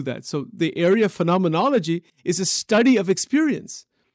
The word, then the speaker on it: phenomenology: it that is called the study of phenomen phenomenology phenomenology phenomenology that's how you pronounce it you know and and so that